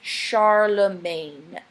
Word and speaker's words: Charlemagne: Okay, but that's how I'm pronouncing this. Charlemagne. Charlemagne. And it is a mangling of French words for Charles the Magnificent or Charles the Great.